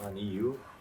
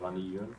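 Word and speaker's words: غني: Is that Ghaniyu? Not Ghaniyun? Oh, it's correct. Yeah, Ghaniyun. Very good. It's Ghaniyun because there's no alif and lam.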